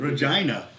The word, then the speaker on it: Regina: Okay, Justin from you pronounce that. Regina.